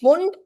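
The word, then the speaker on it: Pfund: फिर एक और आए फुंड, डोंट कॉल दिस एज पुफुंड पिफुंड, ठीक है, इट इज फुंड, पी साइलेंट होता है, ठीक है, फुंड सीरीज।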